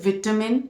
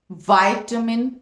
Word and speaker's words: vitamin: Okay, वाइटामिन, so it's v sound, vitamin in British, vitamin in American, vitamin, vitamin.